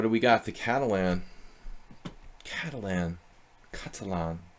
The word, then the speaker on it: Catalan: Catalan. Say it like a Spaniard.